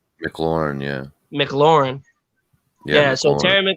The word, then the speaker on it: McLaurin: McLaurin, yeah.